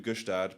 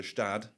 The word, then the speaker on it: Gstaad: And then you were not onto Gstaad, but you went to Gstaad. Yeah. As it is pronounced, as you have supposedly lambasted me twice for this morning already.